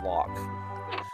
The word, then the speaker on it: Loke: I completely forgot that's pronounced Lock. Loke.